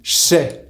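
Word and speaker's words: j'sais: Now we just learned that je and sais merge into che. Now you can understand why je ne sais pas becomes je sais pas. It's because in the absence of the negation part ne, je and sais are now next to each other, and the sound j and s becomes sh.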